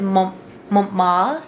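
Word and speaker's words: Montmartre: a couple of things so we're going to Mont ma is how they say it and it's a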